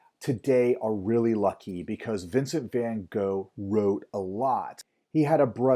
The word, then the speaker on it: Vincent van Gogh: So those are the two paintings that I'm going to show you from Vincent van Gogh, or to say his name more properly, Vincent van Gogh.